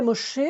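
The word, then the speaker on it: משה: Et puis le mot suivant, Moshe. Alors il se termine par le He. Quand le He est placé comme ça en finale, c'est une voyelle et on ne le prononce pas. En fait, on ne l'entend pas.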